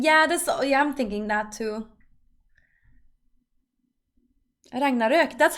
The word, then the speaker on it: Ragnarök: Ragnarök. That's how you say it. Ragnarök. That's how you actually say it. That's like the Swedish way of saying, or the Nordic way of saying it.